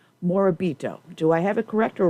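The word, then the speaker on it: Morabito: I'm half Italian I know I'm going to mispronounce your last name moribito do I have a corrector role no you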